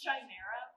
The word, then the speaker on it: Chimera: Pronounced Chimera.